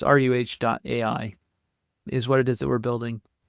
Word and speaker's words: ruh.ai: And it's spelled RUH, at least in English. And so it's ruh.ai is what it is that we're building.